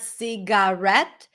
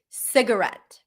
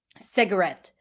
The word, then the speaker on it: cigarette: It's not cigarette. Cigarette. Cigarette. The primary stress is on the first.